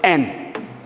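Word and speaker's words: 円: And another kanji, actually, this is en, the relationship that I'm talking about, but this is another kanji which is pronounced as en. So exactly the same. And this en means circle.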